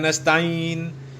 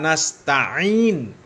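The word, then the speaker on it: نستعين: Apalagi bacanya iyaka na'budu wa iyaka nasta'in ya itu kan jelas salahlah ya. Iyaka na'budu wa iyaka nasta'in bukan nastain ya itu juga sudah jelas ya.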